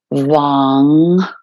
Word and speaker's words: vam: come to our sacral chakra of vam v-a-m but again pronounced v-a and then n g so Wong so three times inhale